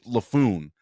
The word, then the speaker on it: Laffoon: I mean, this Anne Heche's kid is named Homer Haish Laffoon. His fucking name rhymes with buffoon.